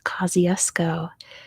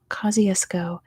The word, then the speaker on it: Kosciuszko: the answer is Mount Kosciusko located down under in Australia and again like I always say that's not how you pronounce it in Polish that's how you pronounce it in Australian right it's not at all